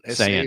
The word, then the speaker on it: Sayin: Do you pronounce it Sayin? Saying, S-A-Y. I'm just Julian saying, Sayin. I'm saying, dog. That's going to be a debut as well with those yeah.